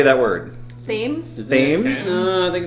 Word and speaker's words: Thames: I'm pretty sure it's a hard T.